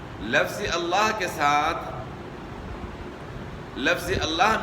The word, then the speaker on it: اللہ: اللہ کے ساتھ لفظ اللہ میں لام کا تلفظ دو طریقوں سے ہوتا ہے۔ ایک ہے تفخیم، تفخیم یعنی موٹا پڑھنا، اور دوسرا طریقہ ہے ترقیق یعنی باریک پڑھنا۔ تو تفخیم کا مطلب